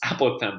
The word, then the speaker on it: apothem: Regular polygon equals 1/2 the apothem, not pronounced apothem, it's apothem, believe it or not, times by the perimeter of the regular polygon here.